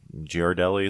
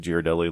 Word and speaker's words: Ghirardelli: Like, you know how you can buy the Ghirardelli, is that how you say it? Ghirardelli, like little squeeze bottles that have like chocolate and caramel and stuff.